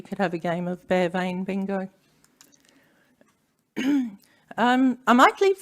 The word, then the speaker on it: Bea Veayn: well done and how do you say it bear vein and do we know how and why people